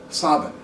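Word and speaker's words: Samhain: the city of sin s a m h a i n or pronounced in M galic Savin well since the word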